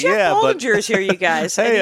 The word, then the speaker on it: Baldinger: It's like, Jeff Baldinger is here, you guys. Hey, and he everybody. knows things. He knows things. And stand-up comic Jeff Baldinger. I forgot to get Baldinger. Baldinger.